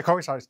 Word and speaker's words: Kovavisarach: Kovavisarach, do I pronounce it right? Kovavisarach? good, yeah. Yeah. Yeah, Kovavisarach is exactly right.